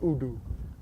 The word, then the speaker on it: hoodoo: We now use the word hoodoo to describe those columns of rock, but just remember it is pronounced Udu.